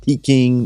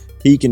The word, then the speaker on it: Pekin: been doing business with pekin insurance for several years not peaking not pecking as some of our customers often mispronounce it pekin insurance has a great